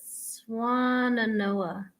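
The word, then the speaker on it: Swannanoa: How do you pronounce it? Swananoa.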